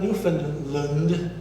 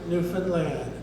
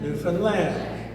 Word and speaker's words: Newfoundland: it wrong it's not Newfoundland it's a land folks it rhymes with understand I'd like you to say that with me understand Newfoundland understand Newfoundland it's a land no